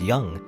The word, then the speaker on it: Jung: is not me enough pronounced Jung is young Jarro young Kemosabe